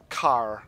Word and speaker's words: Kar: Car. I'll pronounce it as car. That sounds like not care.